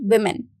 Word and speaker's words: women: converts into plural and the pronunciation of it will be women. So it is not woman, it is women.